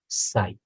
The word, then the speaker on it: psi: हम रिप्रेजेंट करते हैं साई से, ठीक है। इसको हम लिखते हैं PSI, ठीक है। यहाँ पे P साइलेंट होता है तो इसको हम बोलते हैं साई, ठीक है।